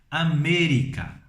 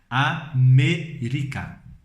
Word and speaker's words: América: Por exemplo, nós dizemos América. Em espanhol se escreve da mesma forma, América, mas se lê, segundo a regra que eu estou falando para vocês, América. América.